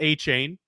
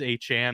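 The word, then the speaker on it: Achane: He is not A. Chain. He even told the Dolphins media staff to change the pronunciations in the media guides. It is A. Chan, apparently.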